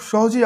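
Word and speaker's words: স্বাহা: ওম নমঃ ভিখা ভো মহা সহা। এখানে আপনারা সাহা উচ্চারণ আসে কিন্তু উচ্চারণটা হবে সোহা।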